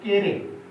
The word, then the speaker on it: Carew: प्रिय विद्यार्थियों, यहाँ पोएट के प्रोनाउंसिएशन में थोड़ा सा सावधानी आपको बरतनी चाहिए। इसे आप पढ़ने में कुछ और भी पढ़ सकते हैं, परंतु आप जानें कि ये टॉमस और ये केरे, द पोएट इज टॉमस